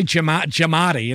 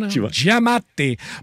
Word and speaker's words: Giamatti: Well, people say Giamatti, and I'm like, no, Giamatti. But Giamatti.